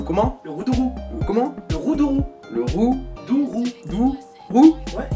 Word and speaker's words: Roudourou: La route du Roudourou. Non, c'était presque ça du Le coup. Roudourou. Le comment? Le Roudourou. Comment? Le Roudourou.